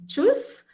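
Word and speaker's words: Tschüss: t but then it's not her so it's jus which means bye so this is a more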